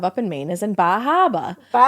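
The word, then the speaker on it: Bar Harbor: I'm a research scientist and the only research we have up in Maine is in Bahaba. Bahaba. Yes. Yes, we do pronounce it like that.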